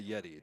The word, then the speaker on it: Yetee: Remember, Yeti is spelled YETEE.